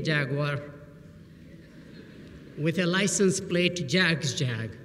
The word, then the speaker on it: Jag: so I was given a nickname jag like in Jaguar and ever since that associates are not been dreaming of owning a Jaguar with a license plate Jags jag right and the